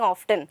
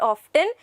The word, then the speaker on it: often: it like that students it is not often your t is silent so you will not be repeating this word and you will just say often i have seen him